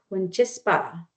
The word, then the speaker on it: Wîchîspa: Again, they are pronunciation is Iyârhe Nakoda. Pretty simple. So, they're also called Wîchîspa.